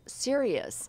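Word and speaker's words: cereus: it be safe well there's bacillus serious and it's serious stuff it's spelled CE r e us though and and its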